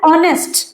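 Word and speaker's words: honest: देखिए एन ऑनेस्ट एन ऑनेस्ट person ऑनेस्ट अब इसको हम ऑनेस्ट प्रोनाउंस नहीं करते हैं।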